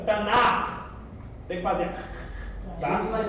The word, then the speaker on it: Tanakh: O correto, CH no hebraico tem som de R. E R não é 2 R's, é um R. Tá bom? Pronúncia, Tanakh.